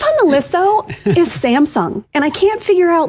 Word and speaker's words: Samsung: And I can't figure out like how are people saying Sam Samsung wrong? Sam's Sam Samsung. Samsung. Samsung. Okay. So, the wrong empastasis on the wrong syllable.